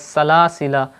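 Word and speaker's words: سلاسلا: During waqf, pausing, it is permissible to either pronounce or not the extra alif in the words salasila of the Holy Quran, but in wasl and joining, the extra alif will not be pronounced.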